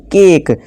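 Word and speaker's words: cake: हैं ठीक है दोस्तों जैसे कि देखिए एग्जांपल केक यहां प इ का कोई आवाज यानी नहीं पता चल रहा यहां पर के इससे के के नहीं पढ़ेंगे का के नहीं पढ़ेंगे के पढ़ेंगे ठीक है दोस्तों यहां पे इस साइलेंट है आवाज में इसी तरह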